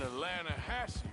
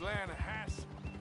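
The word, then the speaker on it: Lannahechee: trout you made an Atlanta Hassey River no no no no no no no the Atlanta hedge it runs right near here yeah but it's pronounced Lana has why is everything in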